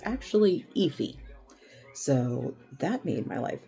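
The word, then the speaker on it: Aoife: on um Google how to pron how to pronounce her name um it's epy if you're wondering um cuz I kept calling her Alf and then when I looked at the pronunciation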